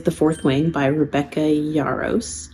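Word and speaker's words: Yarros: fourth Wing by Rebecca yaros yaros I believe is how you say her name all of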